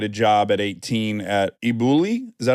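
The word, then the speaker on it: elBulli: where you get a job at 18 at iuli is that how you say it yeah most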